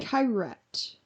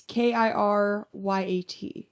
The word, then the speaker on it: Kiryat: The witnesses were dozens of people in Kyrat. It's Kiryat.